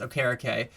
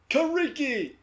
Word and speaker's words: Okereke: come out and said that his name is pronounced Okereke. And so so yeah. That's going to take some adjusting, because I have only ever known Kariki.